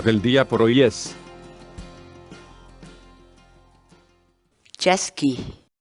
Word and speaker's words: chaskiy: de vídeos en la que te enseñamos a pronunciar algunas palabras en quechua así que nuestra palabra del día por hoy es yasky yasky yasky la palabra quechua chasqui en español significa